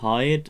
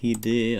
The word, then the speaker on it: Hide: It's actually not Hyde, it's Hide, I got told. So it's like the Japanese pronunciation. Because they wouldn't say Hyde, they would say Hide.